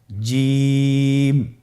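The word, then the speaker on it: ج: যাবে এর মাখরাজ হলো জিহ্বার মধ্যখান তার বরাবর উপরের তালুর সঙ্গে লাগিয়ে উচ্চারিত হয় আপনারা পিকচারে ছবিতে দেখতে পাচ্ছেন যে জিহ্বার মধ্যখান তার বরাবর উপরে তালের সঙ্গে লাগিয়ে উচ্চারণ করতে হয়।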